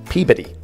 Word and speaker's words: Peabody: Anybody here from Boston understands this, and I saw this town called Peabody. No. It's Peabody. That's how you say it in Massachusetts, Peabody.